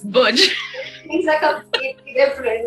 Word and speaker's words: Burgeon: But yes, it's a nice name, but sometimes I do have my little bit of embarrassing moment that no, it's not Virgin, it's Burgeon.